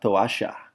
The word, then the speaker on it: toalla: If we were in Argentina, that double L makes a sh sound in some cases. In which case that would be pronounced la toalla, la toalla.